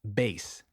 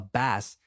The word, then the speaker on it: bass: Then we have bass. A very common mistake is to say bass. However, a bass is a type of fish. It's So saying you play the bass sounds ridiculous.